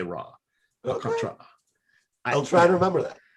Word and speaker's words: Alcantara: It's not Alcantara, it's Alcantara. And they get a little hint of that first A, or I guess technically it's the third A, but the Tara, it's